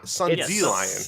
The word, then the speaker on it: Sundelion: Well, it's Sundelion. Yeah, it's like dandelion. Dandelion, but Sundelion.